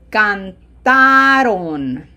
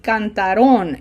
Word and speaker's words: cantaron: Ustedes cantaron. Ellas cantaron. There is a tendency to say cantaron, and that is not correct. Okay? Emphasis has to be on the highlighted syllable.